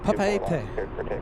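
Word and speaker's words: Papeete: Papaete.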